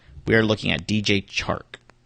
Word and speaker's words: Chark: We are looking at DJ Chark. It's so hard to say his name. Chark? Chark. Because I want to keep saying Shark.